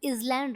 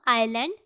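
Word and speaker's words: island: इसमें S silent होता है, इसको हम इजलैंड रीड नहीं करेंगे, इसको हम आइलैंड रीड करेंगे।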